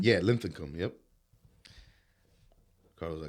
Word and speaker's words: Linthicum: Linthicum? Yeah, Linthicum.